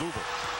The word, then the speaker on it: Louisville: I think the locals, it's a two-syllable word. It's Louisville. Louisville. So, but you and I are still both at about 2.5 syllables.